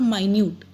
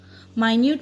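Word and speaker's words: minute: नाउ in this I will tell you मिनट और माइन्यूट. माइन्यूट means क्या होता है, एक छोटी चीज, एकदम माइन्यूटली इसको ऑब्जर्व करो, that is माइन्यूट. And here is मिनट. Spelling कर सेम है. इट इज मिनट मीन्स जो आपकी यूनिट ऑफ टाइम होता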